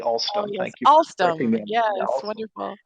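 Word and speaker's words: Alstom: I probably I'm not the only one who calls it Allstrom. It's really All Stone.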